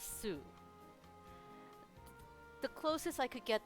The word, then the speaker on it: 酢: If you're paying attention to the Japanese, the word for vinegar is su.